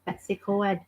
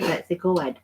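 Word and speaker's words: Betws-y-Coed: Betsy Coed. I call it Betsy Coed. Or Betsy Coed. No, Coed. Coed. Coed, like the Americans have in their showers, Coed We're showers.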